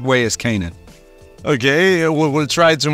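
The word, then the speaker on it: Canaan: the right one uh the correct way to say it is Kanan you know but um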